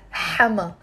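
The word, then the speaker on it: حماة: Notice here in how there is a te marbuta which we don't pronounce when the word is on its own. I'm just pronouncing hama. Hama. That's how we say it in the Lebanese dialect.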